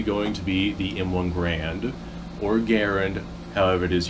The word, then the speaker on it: Garand: I'm just going to call it the M1 Garand because that's the Army's pronunciation of it. Although the guy's name, he said himself, it's pronounced Garand. I'm going to call it Garand because that's what most people know it as.